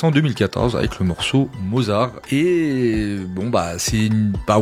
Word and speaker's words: Mozart: Les deux mots, Mozart et Mozarella, ne se prononcent pas de manière identique, ni même très proche. Personne ne dit "Ez, moi je viens de stream la dernière symphonie de Wolfgang Amadeus Mozar."